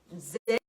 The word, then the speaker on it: Zen: However, I should say Zen and Chan school. Zen school is a pronunciation from Japanese, and then Chan school is pronunciation from Chinese.